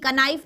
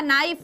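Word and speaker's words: knife: नाइफ सबसे common example के एन आई एफ ई क नाइफ नहीं होता नाइफ होता है के होता है साइलेंट ठीक है तो नाइफ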